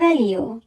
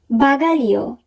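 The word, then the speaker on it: bagaglio: বাগালিও, বাগালিও, luggage. বাগালিও বানানটি যদি আমরা খেয়াল করি তাহলে আমরা দেখব GLE এই তিনটি বর্ণ মিলে উচ্চারণ হবে লি।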